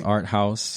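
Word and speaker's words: Art Haus: Art House okay but it's spelled h-a-u-s okay so it's Art House and of Annapolis um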